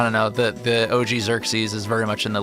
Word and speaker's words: Xerxes: It's pronounced Xerxes.